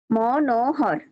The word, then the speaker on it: মনোহর: তো যখন আমার গীতার মধ্যে দেওয়া থাকবে মন বিসর্গ যোগ হর বা মন বিসর্গ হর এরকম থাকবে, তখন আমরা উচ্চারণ করবো মনোহর, মনোহর, মনোহর।